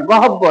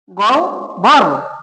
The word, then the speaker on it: গহ্বর: গহ্বর শব্দটি ব্যবহার করি, যেটা আমাদের সমাজে প্রচলিত হলো গহব্বর নামে। গহব্বর, এটা গহব্বর বলা যাবে না। আমরা গ যেভাবে আছে সেভাবে লিখবো। এখন এই হয়ের পরিবর্তে লিখবো রস্বউ বা উ যেটা দেন, পরে এই বয়ের পরিবর্তে হলো ভ, গহ্বর, গহ্বর, গহ্বর।